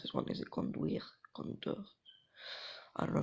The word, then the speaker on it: conduire: Conduire. I don't know how to drive. Je conduis, j'ai conduit. Let's see how it's pronounced. Because we're still learning. So to drive is pronounced. Conduire. Okay, conduire.